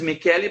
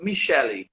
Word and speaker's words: Michele: once again please yeah in italy the pronunciation is mckelly but in brazil is michele yeah do you see